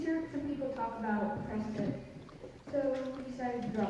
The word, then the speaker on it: Prescott: Well, there are several possible reasons why it could be pronounced Prescott. One reason is it comes from the old miners who shortened the pronunciation. Another reason is it was the way that William Hickling Prescott pronounced his name.